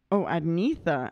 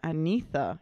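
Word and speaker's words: Agnetha: fresh today blonde's singer's name is Agatha oh pronounced oh antha antha interesting okay or Anita wow okay blonde singer's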